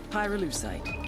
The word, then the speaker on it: pyrolusite: him you know what pyrolusite is right yeah now they did i Pyrrha lucite key syllable pyro by the way is the